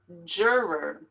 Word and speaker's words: juror: you just say coco juror this is difficult because there's two r's here juror affidavit affidavit a lot